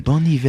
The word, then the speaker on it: Bon Iver: I think you're supposed to pronounce it hiver. Like, Bon Iver. Like the French for like winter. Ivor the engine. Hiver. Bon Iver the engine. Bon hiver.